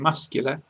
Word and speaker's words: muscular: In muscular, it's SK. Yes!